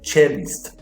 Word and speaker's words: cellist: Então eu tenho aqui, a pronúncia dessa palavra é cellist, porque você play the cello, então se você tem um instrumento cello, a pessoa é o cellist, tá?